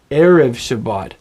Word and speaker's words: erev Shabbat: Therefore, you don't say erev Shabbat, even though maybe you're really beginning to get revved up for that wonderful Friday evening candlelit dinner. You don't say erev Shabbat, you say erev Shabbat. Can you hear how the accent is on the first syllable?